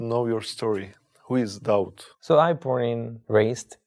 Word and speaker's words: Daud: it was David just I changed the pronunciation David to doubt David and doubt is the same person yeah right it's a